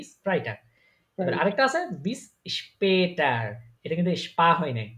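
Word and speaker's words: bis später: হ্যাঁ তাহলে এটা কিন্তু এটা শুধু যদি আ হইতো তাহলে তখন উচ্চারণ হইতো পাটার কিন্তু এটা উমলা উঠানোর কারণে উচ্চারণ কি এসপে টার পেটার বিসপেটার বিসপেটার মানে কি সি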